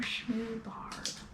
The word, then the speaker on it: Schmubarb: It's rhubarb, so the second part is going to want to rhyme with that. Rhubarb, Schmubarb.